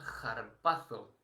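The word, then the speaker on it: ἁρπάζω: En griego sería la pronunciación es, la palabra es harpazo, es, proviene de ahí proviene nuestra palabra, el harpazo, pero de otra manera diferente, ¿no?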